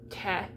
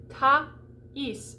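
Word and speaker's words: Thaïs: So if we were looking at this, we might say te or something like that, because S is not usually pronounced at the end of a French word.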